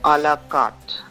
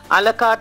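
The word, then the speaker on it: à la carte: Would you like to have a buffet or a la carte? Buffet is, you know what a buffet is, right? It's not buffet, it's buffet. Buffet, T is silent. A la carte is when you order separately on your menu.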